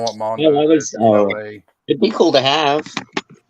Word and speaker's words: Noé: How do you pronounce his name? It's Noé? Yeah, I've always. That's how I say. Yeah. I thought it was Gaspar No.